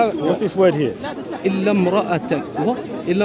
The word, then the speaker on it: امرأتك: So there's a dhamma here. There's a dhamma there. Okay. So when you say when there's a dhamma, you get an u sound, right? Right. It's a vowel indicating. Oh, so you understand what I'm saying, yeah? I do understand. Right. So it's like a u.